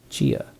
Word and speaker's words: CIA: Chia. Around here they say La CIA instead of CIA, huh? Nothing strange about it. That's how it's pronounced when you read it in Spanish.